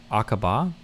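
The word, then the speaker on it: Aqaba: It's pronounced a Aaba. Aaba.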